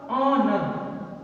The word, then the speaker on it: honour: जैसे हमने लिखा ऑनर, HONOUR, इसका जब प्रोनाउंसिएशन निकालते हैं, उच्चारण निकालते हैं तो लिखा जाता है ऑनर, ऑनर। पहला अक्षर क्या मिला? आ से अनार, तो क्या लिखोगे?